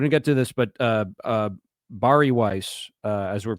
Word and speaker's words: Bari: And I think especially if you're only going to do one R, then it's got to be a hard R, Bari. Don't say that.